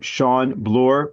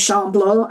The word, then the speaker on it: Sean Bloor: It's a Welsh name, so it's spelt in the Celtic way, much like some of the Irish names are. Good afternoon from the UK. My name's Sean Bloor.